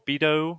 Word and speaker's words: Bedeau: Is it Bedeau or Bido, or how do you say it? It doesn't matter. It's supposed to be Bidu. but it doesn't matter.